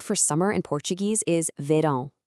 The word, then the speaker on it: verão: And the word for summer in Portuguese is verão. Hear that sound at the end, verão. It's kind of nasal, right? That's all thanks to that little squiggle over the A.